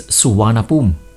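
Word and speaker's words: Suvarnabhumi: this airport right it's suwana boom which in Sanskrit means land of gold I've learned it the hard way that written anglicized Thai isn't pronounced the way it's spelled with that done let's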